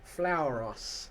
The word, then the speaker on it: Flauros: Flauros. Yeah, I was pronouncing it with the because we always used